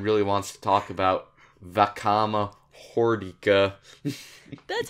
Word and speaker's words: Vakama Hordika: Unless Orion really wants to talk about Vakama Hordika. That's how you pronounce it.